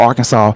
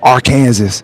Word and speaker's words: Arkansas: that are not from Arkansas they always call Arkansas R Kansas because it's spelled you know AR and then Kansas but